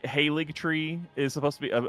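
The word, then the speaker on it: Haligtree: nobody says yeah yeah the g is silent the g is silent can't believe it um but uh again everyone's just like oh it's just a haly tree yeah that's silly that's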